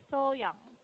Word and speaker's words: So-young: For example, So-young. Some people would say Young Yes, instead of yeah. So-young, right?